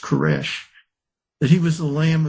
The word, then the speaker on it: Koresh: Cyrus in Hebrew is pronounced Koresh.